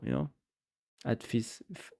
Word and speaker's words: fils: But yeah, fils de pute is correct. Is it that there's an L, you know? At fils f i l s, but you don't pronounce the L.